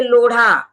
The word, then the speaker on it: लोढ़ा: तो अभी जैसे लोढ़ा लोढ़ा कॉम्प्लेक्स है तो लोढ़ा के लिए अभी जो रिसेंट बहुत पढ़े लिखे लोग हैं लेकिन ड और ध का भेद नहीं कर पा रहे। इंग्लिश में एल ओ डी एच ए लिखा है तो उसको लोधा बोल रहे हैं। तो देखिए यह जो मिस्टेक हो रही है क्योंकि हिंदी का इंग्लिश में लिखा है तो इंग्लिश ही पढ़ना आता है तो उसको डीएच ए पढ़ रहे हैं।